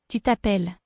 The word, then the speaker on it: tu t'appelles: with an apostrophe, making tu t'appelles, Remember, we don't pronounce the S and we have a double L again, so the E in the middle is making an sound. Let's hear it again.